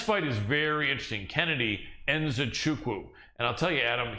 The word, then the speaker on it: Nzechukwu: And virtually nobody pronounces that right. People call it Nchukwu or Nzechukwu, but no one says it the way he says it, which is how it's supposed to be, Nzechukwu.